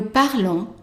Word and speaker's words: parlons: Nous parlons. And again, the S, silent.